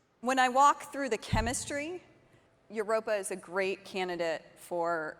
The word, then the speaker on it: Europa: Does anyone pronounce, is it spelled, is it Europa? Or? It's Europa.